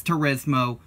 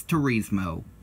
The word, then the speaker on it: Turismo: suck it up and move on yes it's Turismo but colloquially here in some parts of the US its Therese moe deal with it and now on to some